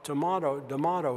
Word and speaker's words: D'Amato: I said, well, D'Amato is a very hard rhyme. It rhymes with tomato, but I'm from Kansas City and I can't bring myself to say tomato.